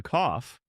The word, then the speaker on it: cough: Wrong way. Emily says, "I have a cow." G. Right way, Emily says, "I have a cough." Sounds like off with a C.